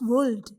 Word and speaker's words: would: We pronounce WOULD as would, not as would. It means would is the correct pronunciation where L is silent.